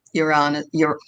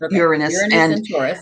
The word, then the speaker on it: Uranus: decided we would start with taurus in um iran you're i know i'm going to say it wrong again uranus um what that has meant for um the